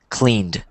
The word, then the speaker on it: cleaned: this other one cleaned this one doesn't have the t so it's probably confusing but it's cleaned cleaned.